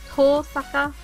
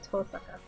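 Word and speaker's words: Tohsaka: And then Tosaka Rin. Is there an H? There's no silent H in Japanese, right?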